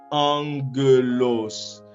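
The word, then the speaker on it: ἄγγελος: bien, nous allons lire le premier gamma comme si c'était un nu, et un N dans l'alphabet latin. Eh bien, on va lire la première syllabe comme en. Vous voyez? En. On continue et puis on va lire la deuxième syllabe ge. La deuxième syllabe ge. Et puis on poursuit avec la dernière syllabe qui est los. Eh bien, ça fait angelos.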